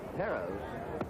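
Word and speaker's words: Pérez: most of the announcers Perez perz is the Spanish pronunciation and we get some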